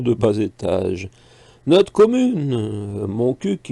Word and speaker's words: Montcuq: Notre commune, Montcuq, il faut bien prononcer le cul, c'est sûrement pour cela